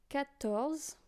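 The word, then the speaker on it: quatorze: 20s you know uh cats cats you know you have the Z again z uh q u and a doesn't sound like qua it sounds like C and welcome charq to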